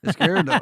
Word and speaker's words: Izquierdo: Izquierdo.